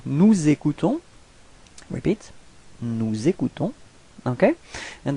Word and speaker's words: nous écoutons: Okay, if we make the liaison, nous écoutons.